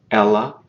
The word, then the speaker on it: ela: She is ela, ela. Listen to the difference in how the first vowel of those is pronounced. Ele, ela. They're different.